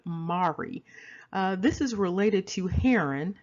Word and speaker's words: Mari: Now, interestingly, this ancient kingdom, there's a surname attached to it, and it's Mari, the M-A-R-I.